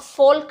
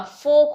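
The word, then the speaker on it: folk: एफ ए एल के नॉट फोल्क नहीं होता फोक होता है because L is silent here yoke right Chowk C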